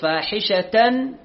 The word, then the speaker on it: فاحشة: نعم، والذين إذا فعلوا فاحشة أو شوف فاحشة أو فاحشة تاء مربوطة، النون منطوقة لكن مو مكتوبة، فاحشة هذه نون جاء بعدها أو يعني همزة، فنظهر لا نقول فاحشة أو غلط، فاحشة أو ظلموا أنفسهم،